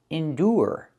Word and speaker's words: endure: The second word is figure and the third word is endure. With endure the ure makes a sound. The long oo like food.